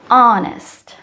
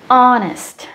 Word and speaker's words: honest: silent for example our honest these are the words where the first letter the beginning letter H is silent s a cases we